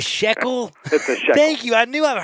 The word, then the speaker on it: shekel: it it's a sh it's a shackle you got to be jewish to be able to pronounce it a shekel thank you i knew